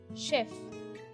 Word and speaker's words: chef: Next is this combination of ch ch. That's not ch. Chef.